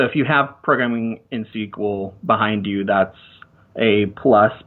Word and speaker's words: SQL: programming languages and so sequel is spelled SQL is a common programming